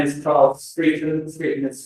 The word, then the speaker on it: Streeton: So my name is Charles Streeton. Streeton is spelled STREETE for Echo, and for November I'm